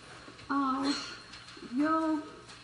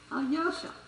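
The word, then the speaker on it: Алёша: For instance, Alyosha. See? Alyosha. Now, that is the Russian E. So it would be Alexei if we anglicized it.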